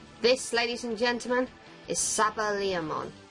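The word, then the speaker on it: SaberLeomon: ladies and gentlemen is saba liamon or sabre liam on it as he's pronounced in the english dub and i think i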